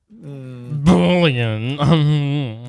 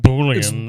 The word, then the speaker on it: Boolean: Boolean um for things boy did you have to say it like that bullan yes stop it run stom it wrong I've been doing Boolean Boolean not to be confused